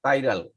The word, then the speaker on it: chiral: এই উচ্চারণটা দেখো, CHIRAL, কাইরাল।